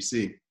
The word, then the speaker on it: SNCC: student non-violent co-ordinating committee, so sncc (pronounced snick) was the youth arm of